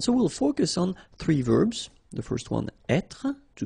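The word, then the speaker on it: vert: rou remember rou so masculine form don't pronounce the final T ver feminine form ver so listen carefully I don't say t but it's ver ver Okay so as usual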